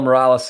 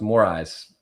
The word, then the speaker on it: Moraes: don't know who Morales is more eyes it's actually pronounced more eyes but I like I